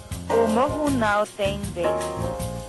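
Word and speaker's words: O Morro Não Tem Vez: Can you pronounce the title? Omohu Now Teng Vase.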